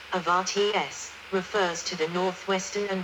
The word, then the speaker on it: Oberharz: The Upper Harz, German, Oberharz, pronounced Avarts, refers to the northwestern and higher part of Harz mountain range in Germany.